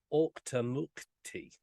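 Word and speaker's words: Auchtermuchty: that now but it's in the town of octonauty and that is the pronunciation I did check that out before I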